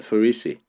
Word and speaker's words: Pharisee: 바리새인들 할 때 발음이 Pharisee입니다. Pharisee.